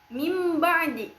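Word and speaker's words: مِنْ بَعْدِ: Nah, contohnya itu ada pada kalimat mim ba'di yang asalnya min ba'di menjadi mim ba'di.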